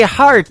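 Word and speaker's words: Harte: That is the latest single from my good friend Robbie Hart. It is H-A-R-T-E on her last name, and that is called Heart in Two Places. Yeah, just like your heart. That's how that's spelled.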